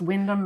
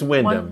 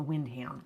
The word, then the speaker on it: Wyndham: Yeah, I think it might be pronounced Wyndham. But it's Wyndham. One member of our family who likes to pronounce things the way they're spelled calls it the Windham.